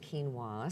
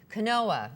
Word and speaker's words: quinoa: n o a spelled yes yes and you pronounce it quinoa so very good yeah quinoa I did a YouTube video and uh we